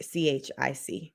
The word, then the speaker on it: Chic: i go by chic c-h-i-c it's a french name joseph it is click say um cheeks say what or is it chick as in say what so it's chic as in like s-h-e-e-k but it's pronounce or